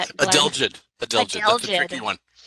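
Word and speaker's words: adelgid: He will pron he will how do you pronounce that? Adelid.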